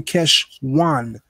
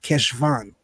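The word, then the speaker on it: חשוון: Noah's flood occurred on the 17th of Cheshvan, pronounced in Hebrew Cheshwan, but you're going to need to type it with a V, Cheshvan.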